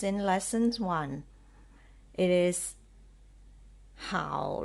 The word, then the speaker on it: 好: how how how how so this word can be pronounced as the third tone how or how fourth Stone